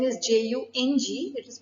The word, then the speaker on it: Jung: Now, although the spelling is Jung, it is pronounced as Jung, who lived from 1875 to 1961.